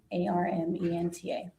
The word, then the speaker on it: Armenta: V A N E S A R M E N T A I'm pronouncing that correctly.